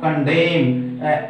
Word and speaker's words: condemn: Next चलिए, कंडेम, CONDEMN, इस word में देखिए लास्ट में एन है, उससे पहले एम है, जो मैंने इस वाले इसमें बताया था, तो हमारा प्रोनंसिएशन उच्चरित होगा क्या, कंडेम, एन इज मूक silent in this word and नॉट ऑफ कंडेम्ड, okay.